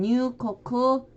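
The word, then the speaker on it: 入国: 네, 입국 나비비 있고 일본어 발음으로는 뉴코쿠 노뉴로 읽혀집니다.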